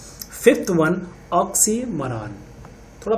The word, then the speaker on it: oxymoron: And next हमारा है fifth one, ऑक्सीमोरॉन। थोड़ा प्रोनाउंसिएशन पे भी ध्यान देंगे, ऑक्सीमोरॉन।